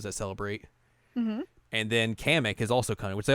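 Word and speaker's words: Kamek: like they name they the way they pronounced it was weird like comic I was like what excuse me what I always I always called him comic I always called him kamik yeah I always called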